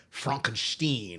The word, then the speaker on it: Frankenstein: But of course you pronounce it Frankenstein because he doesn't want to be associated with that quack and that weirdo.